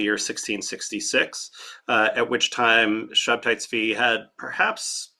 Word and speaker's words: Shabtai Tzvi: The movement of Shabtai Tzvi. That's how you would pronounce the name in Hebrew. It could also be Sabbatai Tzvi.